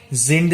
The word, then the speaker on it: sind: Then again, this is another point to remember, that S, when it comes first, it is pronounced as Z. It's Z. It's not so. So it's sind Sie verheiratet?